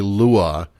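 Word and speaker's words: lwa: Basically, I kept pronouncing it when it's actually lua. Um, it appears that I kept reading that the the uh the L is a capital I.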